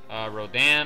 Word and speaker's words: Rodan: There was also Godzilla, obviously, Rodan or Rodan, however you want to pronounce it.